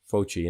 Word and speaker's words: Fauci: Some obscure person named Anthony Fauci, I think is how you pronounce it, Fauci, and I'm going to show his information in a second.